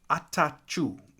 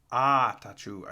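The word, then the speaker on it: Attaochu: First one, Jeremiah Atachu. Atachu, I think is how you say it. Not going to lie, I had to look up a pronunciation guide on that one.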